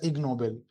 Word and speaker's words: Ig Nobel: Ashmita uh mentioned uh they are written as IG Nobel prizes. So together combined it's pronounced as ignoel.